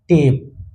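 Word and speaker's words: tape: लेकिन लास्ट में अगर इ लग जाए तो इसका उच्चारण टी ए पी ई टेप।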